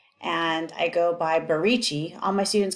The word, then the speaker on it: BaRicci: So I go by is a first name, and I am because my name's spelled with a J, and I go by Barici.